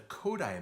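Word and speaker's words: Kodály: more complex concepts and the coda method that is how you pronounce that word KO da ly it's the last name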